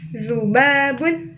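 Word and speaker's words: ذباب: Nah, lalat ini bahasa Arabnya zubabun. Nah, ini dari huruf za ya. Cara bacanya zubabun, zu. Ujung lidah dengan ujung gigi seri atas.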